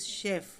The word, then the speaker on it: शेफ़: Chef नहीं पढ़ना है बेटा इसको, दिस इज़ शेफ़. ओके.